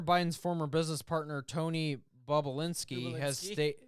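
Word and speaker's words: Bobulinski: Hunter Biden's former business partner, Tony Bobolinsky, has stated... Bob! Not Bubalinsky.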